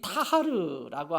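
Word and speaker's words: טהר: 이 타하르라고 하는 히브리 말은 타하르 좀 뱉어야 되는데 그러기까지는, 그러니까 타하르 한국말로 하면 타하, 원래 발음은 타하르인데 이 단어의 뜻은 뭐냐면 겉으로 보여지는 것에 대한 정결함이 아니라 내적인 정결함을 얘기하는 거예요.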